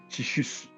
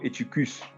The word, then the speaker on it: Eutychus: et la vie de Tychus, ou encore Eutychus, selon la prononciation de chacun.